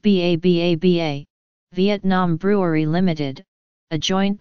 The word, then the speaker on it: 333: in 2010 Saigon beer 333 pronounced ba ba-ba Vietnam brewery Limited a